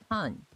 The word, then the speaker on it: Han: She always says Han, H-A-N, which is the female version of hello.